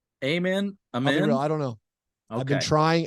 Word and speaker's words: Amen: So it's Amen. So I'm gonna have to learn a new pronunciation of Amen. Amen.